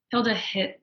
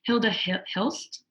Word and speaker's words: Hilda Hilst: Hilda Hit. How do you say her name? Hilda Hilst.